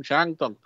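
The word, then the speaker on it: Shandong: Shantung. Se escribe con D, pero se pronuncia como T. Shantung.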